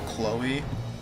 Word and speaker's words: Chloe: Isn't it pronounced C-Lo-E? Oh, Chloe.